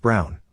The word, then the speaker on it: Braun: She said why not, and I reminded her of the historical figure, Eva Braun, pronounced Brown, wife of probably one